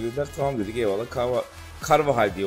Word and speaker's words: Carvajal: Carvajal diye okunuyor dediler ona da.